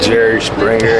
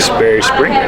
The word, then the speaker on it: Sperry Springer: I usually be saying Jerry Springer and Sperry Minger, but shout out to see, I fucked it up again. Sperry Springer, that's my boy.